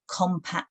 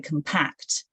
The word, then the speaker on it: compact: typically be um so you say um compact but it's very compact their team but then we say compact disc 13th Place so the